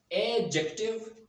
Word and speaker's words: adjective: This is not adjective or adjective. This is adjective, not jack. There is short vowel sound.